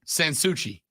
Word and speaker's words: Sansui: right let's go boys you put too much emphasis on the first part it's it's kind of said as like one word Sansui there you go all